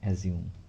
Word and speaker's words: assume: কোনো ওয়ার্ডের উচ্চারণ শেষে SUME থাকলে তাহলে সেই ওয়ার্ডটির উচ্চারণ লাস্টে জিউম হবে, ঠিক আছে। যেমন ASSUME, অ্যাজিউম, মনে করা, ঠিক আছে।